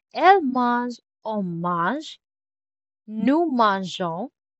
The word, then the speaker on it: mangeons: Nous mangeons. So we get an extra E to keep the soft G.